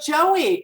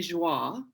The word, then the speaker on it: Joie: So it's really joie, right? Joie. It's really joie. Yes. It's really joy in French.